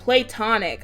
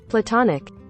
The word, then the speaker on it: platonic: the mask play tonic I did all of that over that word and I still didn't pronounce it correctly it's pronounced like this platonic platonic I'm going to